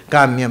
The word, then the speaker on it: ಕಾಮ್ಯಂ: ಸದಸಸ್ಪತಿಮದ್ಭುತಂ ಪ್ರಿಯಮಿಂದ್ರಸ್ಯ ಕಾಮ್ಯಂ ಸನಿಮ್ಮೇಧಾಮಯೋ ಶಿಷಂ. ಮುಗಿತಿದು ಗಾಯತ್ರಿ. ಮೊದಲನೇದು ಎಂಟಕ್ಷರ, ಸದಸಸ್ಪತಿ ಮದ್ಭುತಂ ಎಂಟಕ್ಷರ ಒಂದು ಪಾದ, ಎಂಟಕ್ಷರದ ಮೂರು ಪಾದ. ಆಮೇಲೆ ಪ್ರಿಯಮಿಂದ್ರಸ್ಯ ಕಾಮ್ಯಂ, ಇಲ್ಲಿ ತಪ್ಪು ಹೇಳ್ತು ಲೆಕ್ಕ. ಪ್ರಿಯಂ ಇಂದ್ರಸ್ಯ ಕಾಮ್ಯಂ ಏಳು ಅಕ್ಷರ ಇರೋದು.